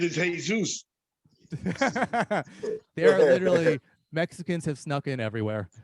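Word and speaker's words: Jesús: right he was from the bronx the correct pronunciation is hey zeus mexicans have snuck in everywhere every single place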